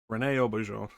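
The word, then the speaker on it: René Auberjonois: Rene Aubergeon.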